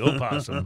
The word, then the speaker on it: opossum: in penny the possum now the o is silent you realize so it could be like oprah the opossum but the o is